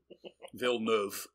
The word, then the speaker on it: Villeneuve: And you taught me how to pronounce his name. I never knew. I thought I would have said Dennis. Dennis Villeneuve. Villeneuve.